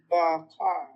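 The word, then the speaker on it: בָּקָר: A long A bakar. What's your first letter? Bet. Bet? Does it have the dot? Yeah. Got your daghesh lene? It's a strong B sound.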